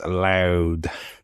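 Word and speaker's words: Louth: Is it Luth or L? It's loud. Loud. It is loud.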